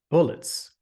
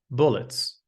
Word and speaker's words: bullets: Moving on to the soft killer, bullets. Some may pronounce it as bullet. However, it should be pronounced as bullets. Bullets. Absolutely. The U in bullets sounds just like bully.